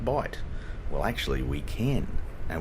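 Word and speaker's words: Bight: this bit down here b i g HT that's not incorrect folks he this is the educational element of the uh of the video I do occasionally throw in some learning BHT is correct is valid in this context um those of you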